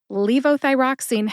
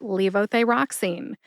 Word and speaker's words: levothyroxine: with leoy roxine first Leo thyroxine has five syllables Lee like Bruce Lee the actor V like vocation thigh like thyroid rocks which rhymes with Fox and E like clean